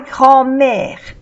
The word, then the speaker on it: grand-mère: Igualmente con grand-mère, no se pronuncia la D.